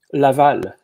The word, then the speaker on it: Laval: of montreal how how you say it name laval laval i'm sorry because i made a